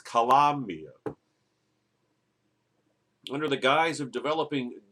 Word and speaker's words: Colombia: Gotta say it right. It's not Colombia, it's Colombia.